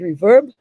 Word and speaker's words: RVRB: on this outstanding initiative our reverb rvrb i believe they pronounce it reverb which has brought us